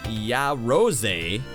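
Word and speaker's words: Yaroze: In March, Sony is releasing a new system called the ya rose, pronounced ya rose, for $750.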